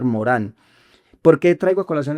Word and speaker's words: Morin: Se escribe Edgar Morin, se lee en francés Edgar Morán.